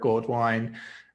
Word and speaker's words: Goldwine: me i am goldwine it's pronounced gold wine hence the gold wine on